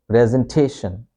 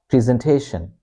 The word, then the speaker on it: presentation: So in in in British in the British P pronunciation we say we pronounce this E as it is in pen. So we say presentation presentation. So when I reach this presentation presentation presentation but in American pronunciation this e sound. Okay. Becomes double e sound. We say in American pronunciation we say presentation. Present pre pre. It's a long sound.